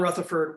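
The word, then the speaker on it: Rutherfurd: on your right there it's spelled f-u-r-d in the reading they misspell it f-o-r-d but it's john rutherford with two u's rutherford had been a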